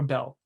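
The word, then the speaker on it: Bael: the ruler of uh or not bail or Bell like the scooter company but it's spelled b-a-e-l just for anybody that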